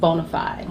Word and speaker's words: BONA5D: Yeah, it's spelled a little different. B-O-N-A, the number 5D, but it's pronounced BONA5D.